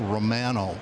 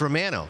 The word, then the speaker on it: Romano: And it's Romano, by the way. That's how we pronounce it in Canada.